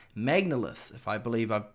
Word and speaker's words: Magnalith: music and is continuing to release music called Magnalith, if I believe I've pronounced that correctly.